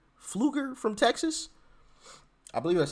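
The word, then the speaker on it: Pfluger: uh Mr is it fluger fluger from Texas I believe that's how you pronounce his name is PF -l-u-g-e-r fluger I'm assuming the p is silent but as he was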